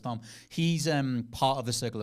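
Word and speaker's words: Tharmr: Like because Barnabas Thom, who his name's spelled like Thamia, and that's a way cooler name, Barnabas Thamia, but it's Barnabas Thom.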